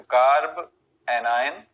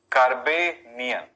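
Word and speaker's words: carbanion: देखो कार्ब एनायन और या फिर कार्बेनियन, देखो उच्चारण करने का तरीका पे ध्यान दें, लिखा तो वही है पर उच्चारण करने का तरीका थोड़ा अलग हो जाता है।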